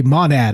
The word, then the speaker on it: monad: I say it a monad I was going to say monad monad does not rhyme with gonad remind yourself Mike uh